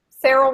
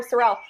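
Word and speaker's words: Cerel: Julie's Cyril rhymes with Farrell. Sorry, I'll call her Sorrel, and that's wrong.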